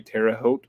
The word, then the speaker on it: Terre Haute: called it nowhere indiana it was actually terre haute i think that's how you say it um first i